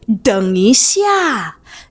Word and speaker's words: 等: would say it like 等一下. 等一下. All right. So you're going to learn more, but for now, just remember that to wait is 等, and it's the third tone.